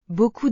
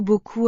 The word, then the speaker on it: beaucoup: Par exemple, le mot beaucoup a huit lettres. Mais on prononce seulement quatre sons. Les lettres ensemble font le son haut.